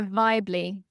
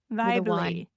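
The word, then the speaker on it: Vybly: Vibly. Vibly. Vibly. Spell that.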